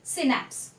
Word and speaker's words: synapse: The pronunciation is synapse.